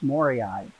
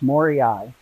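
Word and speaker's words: moorii: pronounced uh long e and the last one's pronounced long eyes so it's more eye if there were only one i it would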